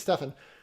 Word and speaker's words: Stefan: We've got a link to an article, Stephen Gubner, who, I say his name poorly, I'm certain, and it's not Stephen, it's Stefan.